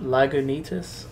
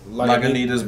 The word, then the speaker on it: Lagunitas: Lagunitas? Lagunitas Brown Sugar.